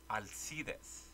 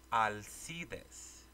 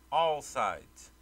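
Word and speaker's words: Alsidez: If you think that's bad, my last name is pronounced Alcides. And it's pronounced Alcides. You spell it A-L-S-I-D-E-Z. It should be easy, but it's not. Growing up, people would always call me All Sides.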